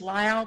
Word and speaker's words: Lowe: hi this is my last name is Lyle but it's spelled like l-o-w-e yes can you turn